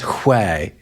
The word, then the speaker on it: where: That explains why when someone says where, they're saying the H sound before the W, because these words genuinely did begin with an H that was followed by the W.